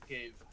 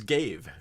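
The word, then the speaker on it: Ghave: Anyway, I'm gonna so Reddit says that it's pronounced Gave. Oh, okay, cool. Good to know. It's Gave.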